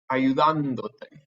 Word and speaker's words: ayudándote: it originally was, but by adding a syllable, that forces this natural stress to come here on the O. And I don't want it on the O. I want to put it back on the ayudándote.